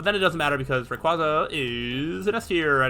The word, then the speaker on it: Rayquaza: know I feel like I've always said Rayquaza but over the years I think I've started saying Rayquaza more because I think that's its like official pronunciation um normal nah